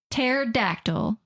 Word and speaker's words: pterodactyl: good question huh okay pterodactyl Terry with a p p Terry just like the burger place cuz pterodactyl is p oh okay yeah okay it's just spelled like the for real you were trying to be for real for a second but lots of people don't know pterodactyl is spelled PT yeah like the first